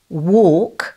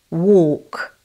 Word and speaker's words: walk: Then, walk, spelt with AL, takes the sound of OR, walk.